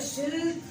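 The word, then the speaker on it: silk: जब आप कह रहे सिल्क, मिल्क, तो देर वाला साउंड हो रहा है, तो आप देखो आप एल को प्रोनाउंस कर रहे हो।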